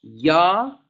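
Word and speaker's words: ja: el eje que después la j se pronuncia como el como el lic y del espanyol de otras naciones como en méxico por ejemplo no se dice yo se dice y yo ahora entonces la jota es como ese y entonces decimos ya para decir sí y si yo te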